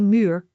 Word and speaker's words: muur: Main u is along you sound like a muur which means wall. Let us break it down. Muur. Muur.